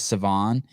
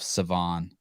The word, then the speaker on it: Sevan: the show and he referred to me as savann and then when i referred to myself i called myself savon i wanted to throw up i don't know if i've ever said my own name wrong okay so if you